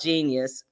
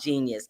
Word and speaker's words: Jeenyuhs: Just know that Kanye West got a film at Sundance called Genius. And it's not spelled Genius. It's spelled Jeenyuhs.